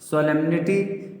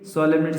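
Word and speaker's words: solemn: फिर है आपका पांचवा सोलेमनिटी। सोलेमनिटी, सोलेम जो होता है, सोलेम का मतलब एन साइलेंट रहता है।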